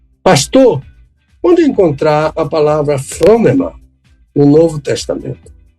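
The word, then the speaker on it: φρόνημα: Então, a palavra phronema pode ser escrita com P, H, R, O, N, E, M, A, com acento agudo na primeira sílaba.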